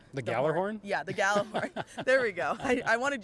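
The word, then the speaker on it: Gjallarhorn: I'm not going to say the proper name because I'll butcher the Galler horn? Yeah, the Galler horn.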